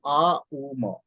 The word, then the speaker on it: ओम: सो ओम का उच्चारण जब हम करते हैं, इट्स ए कॉम्बिनेशन ऑफ आ, ऊ एंड मॉ। आ जो है नवल एरिया से आता है, ऊ का उच्चारण हार्ट एरिया से होना चाहिए, एंड मॉ का उच्चारण गले के एरिया से। सो आ ऊ मॉ, जब हम लोग पूरा